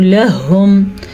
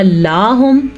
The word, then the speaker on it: لَهُمْ: وَأَنفَقُوا لَهُمْ، لَهُمْ. اگر ہم نے کیا لاہم تو معنی چینج، جیسا کہ لَهُمْ أَجْرٌ كَبِيرٌ، اور ان کے لیے بڑا اجر ہے.